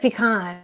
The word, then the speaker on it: pecan: I said pecan, yeah, because I'm from California. Yeah, you put the accent on the wrong syllable.